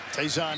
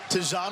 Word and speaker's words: Tayzon: You hear his name pronounced Tayzon a lot. That's how it's listed. We were told today it's Tayzon.